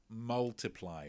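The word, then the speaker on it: ×: so pretty different vibe what is the intended pronunciation of ed sheeran's second album that it is of course multiply well done if you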